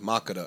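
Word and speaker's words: Makeda: and that's makita m-a-k-m-a-k-e-d-a i think it's pronounced macada i think it's ethiopian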